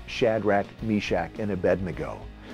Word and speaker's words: Abednego: Imagine your child easily learning how to pronounce Shadrach, Meshach, and Abednego. Notice I didn't say Abednego.